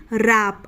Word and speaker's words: wrap: उसी तरीके से WRAP, रैप। अब रैप भी W से शुरू हो रहा है, लेकिन यहाँ पर भी W क्या है, साइलेंट है, यानी कि हम उसे नहीं बोलते। हम क्या बोलते हैं, रैप बोलते हैं।